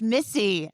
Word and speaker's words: Missi: pronounced Missy.